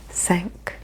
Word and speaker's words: cinq: Cinq, cinq. Just like my ship sank, sank.